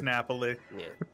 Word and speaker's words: Napoli: or something and I'm like ok it is Napoli it probably is to be honest just blame